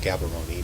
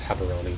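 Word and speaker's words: Gaborone: followed to havaroni Botswana it looks like gabaroni but it's pronounced haberoni Botswana in southern Africa landlocked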